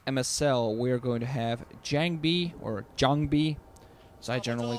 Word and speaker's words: JangBi: I'm pretty sure that in the correct Korean way, it's pronounced JangBi.